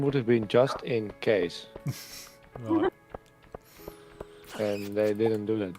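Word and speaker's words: Cees: nickname of his father which is case which is a fairly Dutch name okay with BTC so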